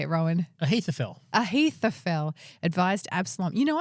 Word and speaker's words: Ahithophel: Ahithophel.